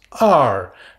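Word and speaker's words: 二: Le chiffre 2 se prononce R. Donc c'est un E très ouvert suivi d'un R. La prononciation qui ressemble un peu à l'anglais américain. Donc il faut bien faire le E très ouvert. R. Et le ton descendant, partir de l'aigu vers le grave.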